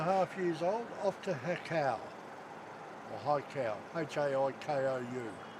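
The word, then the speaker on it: Haikou: I call it Hakau, Hakau. It'd be high cow. Yeah, it could be. Oh, that's similar pronunciation to Japanese. H-A-I is hai, Yep. because that's yes in Japanese.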